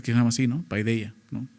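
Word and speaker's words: παιδεία: Paideia, ¿no? Paideia, más bien, se pronuncia así en griego.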